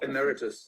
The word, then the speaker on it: emeritus: Graeme's I don't know if I'm going to pronounce this correctly. Is it the emeritus? Oh, emeritus.